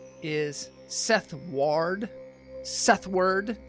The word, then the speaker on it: Seth Ward: Sethward.